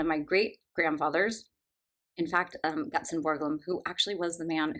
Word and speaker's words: Ditlevsen: I was saying Tove Ditlevsen, which as I'm saying it out loud, it makes much more sense to say Ditlevsen.